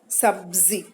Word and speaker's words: सब्जी: आधा ब और ज, ब्ज, ब्ज। ब और ज दोनों की ध्वनि आएगी, ब्ज, ब्ज। सब्जी, सब्जी, कब्ज, नब्ज, सब्जियां,